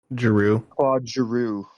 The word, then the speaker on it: Giroux: Giroux.